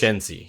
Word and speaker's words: Shenzi: Sorry, it's not Sheni. It's Shenzi. Shenzi, I do not want to get your name wrong.